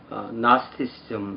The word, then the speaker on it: Gnosticism: 영어로 된 이 영지주의라는 용어는 나스티시즘 이렇게 발음합니다.